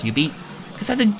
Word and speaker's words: jubeat: I'd say Jubeat, but it's pronounced Ubeat.